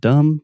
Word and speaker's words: dumb: dum dum yeah so there's a B in the word dumb but we do not pronounce it many times in English